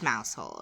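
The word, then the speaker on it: Mousehole: to go see mouse hole and it is mouse hole okay I do not even care uh the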